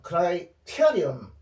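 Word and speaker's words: criterion: 요게 ON이 붙으면 크라이테리언 이 은이죠. 여기 발음이 은이지.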